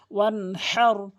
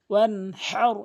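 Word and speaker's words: وانحر: ফাসল্লি লিরাব্বিকা, এখানে যে মারাত্মক লেভেলের ভুল করে ওয়ানহার, এখানে ছোট হা উচ্চারণ করে ফেলে, এখানে বড় হা, তাহলে সঠিক অর্থ দাঁড়াবে ওয়ানহার ওয়ানহার এভাবে বলতে হবে।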